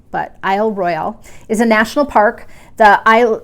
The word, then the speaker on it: Isle Royale: ferry anyway out to Isle Royale which the people on Isle Royale say Isle Royal but it's spelled Royale so I might be saying it wrong but Isle Royale is a national park